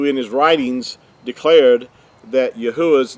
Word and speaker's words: Yahuah: And that's another reason why his name is not Yahweh, and we'll talk about that in another session, but his name is Yahuah.